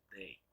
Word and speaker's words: they: Entonces, por lo tanto, escribo el pronombre que le corresponde, que es ellos en inglés, que se escribe así y se pronuncia they.